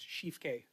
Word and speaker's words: Schiefke: Shifke, on a point of order. Sure. Sorry, it's just a quick clarification. My last name is pronounced Shifke, It's just a Chief K.